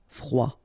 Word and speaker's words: froid: here ye y côtier froid final day not pronounced froid commun ok u un commun